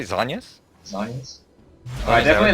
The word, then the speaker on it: Zhonya's: Well, it's ZH. Jonya's? Zhonya's. Jonya's. ZH. Jonya's. Why is that pronounced? Maybe it's because I live in Hong Kong, and maybe so. Chinese for Mandarin is Zhongguo. So it's like the same sort of ZH sound.